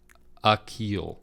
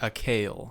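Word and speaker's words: Akial: it's definitely the the beginning syllable for mr. Byers is uh like you H so a keel a keel yeah not a kale no okay a keel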